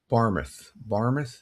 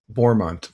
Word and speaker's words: Bournemouth: Barmouth, did I pronounce that right? Let's see, where is it? Yeah, Bournemouth.